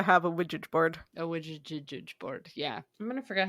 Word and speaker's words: Ouija: I think it's actually ouija because Oh. What? because it's yes in English and German, isn't it, or something like that?